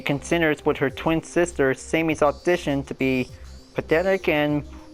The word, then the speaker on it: Samey: starts quickly by saying her name pronounced Sammy and not say me she becomes nervous that